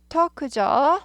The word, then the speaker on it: talk: talk죠. 네. talk인데 she가 3인칭 단수 한 명이니까 3인칭 단수 현재 s를 붙인다. talks about 이렇게 되죠. talk는 l이 묵음이죠. talk 아니고 talks 이렇게 됩니다.